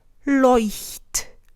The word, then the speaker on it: Leuchtturm: And then the last one that I had written down was the bujo that everybody uses and everybody pronounces incorrectly, as much as I'm concerned. Leuchtturm.